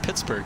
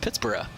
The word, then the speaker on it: Pittsburgh: to be pronounced like originally i think it was pronounced pittsburgh but uh for some reason over time uh you know uh unlike the way edinburgh has pronounced edinburgh uh in scotland right the pronunciation became berg uh which is kind